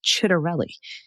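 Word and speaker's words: Ciattarelli: Pronunciation. The Irish political parties you mentioned are Shinfane and Fina Gale. Also the Republican candidate for New Jersey governor, Jack Chitterelli.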